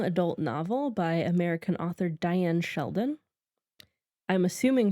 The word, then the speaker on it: Dyan: novel by American author Diane Sheldon. I'm assuming her name is pronounced Diane, although it's spelled uniquely. Yeah. It's spelled Dyan. I would assume it's Diane.